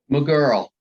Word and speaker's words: Maegerle: how do you say your last name i'm a girl i'm a girl okay mcgirl of affleck and that's like was always interesting